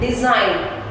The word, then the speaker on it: design: Design. G is silent in word design.